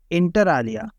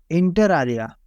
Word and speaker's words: inter alia: Hello friends, आज के word का प्रोनाउंसिएशन है इंटर आलिया। इंटर आलिया, come on practice with me friends.